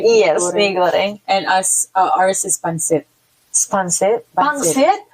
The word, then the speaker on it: mee goreng: Yes, mee goreng.